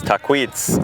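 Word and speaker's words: Tahquitz: is ttz ttz which if you wanted to go with the Native American pronunciation is taquitz uh which taquitz was uh there's taquitz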